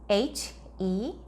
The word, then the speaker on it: healthy: 번데기 발음 있어요. 번데기 어떻게 발음한다죠? 혀가 살짝 나온 상태에서 바람만. 여기다가 I를 붙이니까 인데요. 자, 강세를 넣으면 healthy 이렇게 발음합니다.